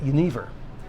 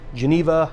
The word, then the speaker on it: genever: our next segment here, really brief one, a quick pit stop at genever. Genever, Geneva, however you want to pronounce it.